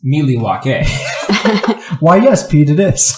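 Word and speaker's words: Milwaukee: Actually, it's pronounced Miliwake.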